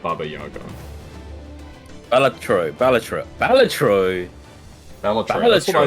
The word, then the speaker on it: Balatro: Balatro. Balatro. That's what I say. No, I say Balat. Yeah, you say Balataro, which doesn't make any sense.